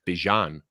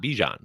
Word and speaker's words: Bijan: We've all been mispronouncing his name. It is Bijan Robinson, not Bijan.